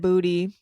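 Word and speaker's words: Boutte: And he does pronounce it Booty.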